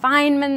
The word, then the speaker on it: Feynman: Feynman, there we go.